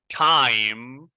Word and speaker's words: time: Now this one, time. And pay attention to my lips at the end. Time. I close my lips.